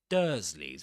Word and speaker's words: Dursleys: Dursleys begins with this "er" sound, as in church, the same as in church or first or even bird.